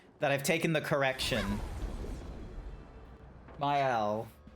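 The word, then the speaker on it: Maelle: the first time you've told me how to pronounce it. And I keep thinking that I've been that I've taken the correction. Myel like myel myel myel myel go are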